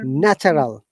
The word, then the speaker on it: natural: Okay, remember that TU sound very often in British English we sound like cha. Similarly, what is today? Today is Tuesday, but in British English we sometimes pronounce it Tuesday, like cha sound. Natural. Okay, so in natural, Nurture. look, TU is ta, cha, not ta.